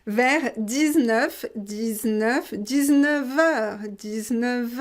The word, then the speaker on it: vers: léa féminin singulier verts on ne prononce pas le s fait vers vers 19 19 19 heures